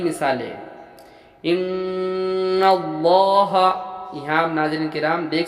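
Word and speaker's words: إن الله: ज़बर की मिसालें, इन्नल्लाह, यहाँ आप नाज़रीन किराम देख सकते हैं कि लफ्ज़ अल्लाह है और लफ्ज़ अल्लाह से पहले ज़बर है, तो हम लफ्ज़ अल्लाह को पुर यानी मोटा पढ़ेंगे।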